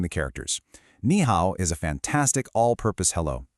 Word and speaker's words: 你: You have ni pronounced ni, which is informal, great for your friends and peers.